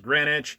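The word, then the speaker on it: Greenwitch: existence which you know this is actually spelled green witch but it's pronounced grenwich we have these guys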